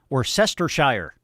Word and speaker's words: Worcestershire: Worcestershire is how you say it.